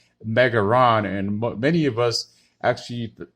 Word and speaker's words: Megalon: plus uh standard edition megaron or megalon as in japanese it's known as megaron and many of us